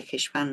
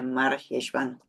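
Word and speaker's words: מרחשוון: que tiene dos nombres no se dice jeshvan nada más que es scorp se dice mar jeshvan lo que significa amargo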